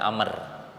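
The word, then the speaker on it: عمرو: ada Abdullah Ibnu Umar Jadi kalau Umar tidak memakai wau ujungnya jadi tidak memakai tambahan huruf wau kalau dibacanya kalau ada wau maka dibacanya Amr Abdullah bin Umar Abdullah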